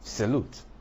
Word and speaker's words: salute: usually not stressed for example in a word like salute there's a show in the first syllable that's why the stress is on the second syllable in a world like